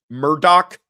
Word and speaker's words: Murdaugh: All right, that is the correct pronunciation of Alec Murdoch.